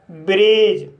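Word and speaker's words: bridge: तो गाइस इसका रूल है, जब किसी वर्ड में डी के बाद जी ई आए तब डी साइलेंट रहता है। जैसे एज, बेज, वज, लॉज, ब्रिज। तो गाइस इन सभी वर्ड में डी के बाद जी ई आया है, इसलिए डी साइलेंट है।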